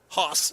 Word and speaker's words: Haas: Hudson Haas is the way it's pronounced. I was told, just think of Ben, Little Joe, and Haas from the Cartwright family in Bonanza.